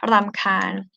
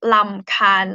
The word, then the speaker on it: รำคาญ: This one is trill R, okay? รำคาญ. For those of you who can read Thai script, รอเรือสระอำนะคะ คอควายสระอายอหญิง รำคาญ. You pronounce as นอหนู sound here. รำคาญ. รำคาญ. Okay. But in conversation, you might hear it as ลำคาญ, like ลอลิง sound or L sound, because we don't really pronounce R, like true R in Thai.